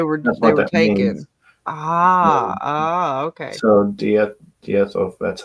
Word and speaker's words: diethyl: So diethyl, that's how you say it, ether, and she's using the DIET and ER as Dieter.